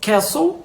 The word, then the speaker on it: castle: vocês seriam as palavras Castle de castelo e whistle que significa apito então do mesmo jeito como no Manso a gente não pronuncia o t a gente vai deixar